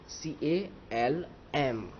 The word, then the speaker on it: calm: काम, काम यानी बहुत शांत, काम यानी कि बहुत ही शांत, तो CALM, स्पेलिंग हमें क्या लिखना है, लिखना है ये स्पेलिंग लिखना है, लेकिन बोलना कैसे है, CALM।